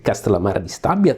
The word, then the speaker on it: Castellammare di Stabia: I am saying these names for two reasons. First, this is the actual Italian pronunciation, so it is nice for me. I'm really happy to say your names like Avellino, Ariano, Irpino. This is the exact Italian pronunciation.